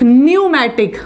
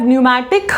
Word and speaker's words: pneumatic: The type of bones which are present, they have pneumatic bones. P is silent here.